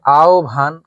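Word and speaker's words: আহ্বান: আর যখন আমরা এই যে আও ভান খেয়াল করেন আও ভান আচ্ছা আর যখন বিউভল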